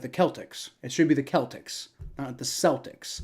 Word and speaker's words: Celtics: in New Orleans Celtics it should be the Celtics not the not the not it's should be a hard sea you know like you would say cake right the the the